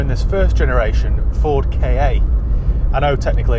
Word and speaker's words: Ka: Today I'm in this first generation Ford KA. I know technically it's supposed to be pronounced Ka or car, but it just sounds a little bit ridiculous, so I shan't say it that way.